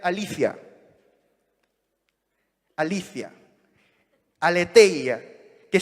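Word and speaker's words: ἀλήθεια: es la palabra griega generalmente se pronuncia aletheia pero en realidad debería pronunciarse alicia alicia al éter ya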